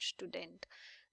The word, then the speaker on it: Student: student is called student the only difference is in the pronunciation of s the s in the beginning is pronounced as sh sh in English like an sh so we have a pronunciation of this as sure pronunciation okay so is been